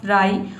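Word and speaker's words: fry: रखना है ठीक है तो देखिए यहां पे है फ्र एफ आर का हो जाएगा फ्र और वा को हम आई पढ़ेंगे ये हो जाएगा आपका फ्राई उसी तरह से यहां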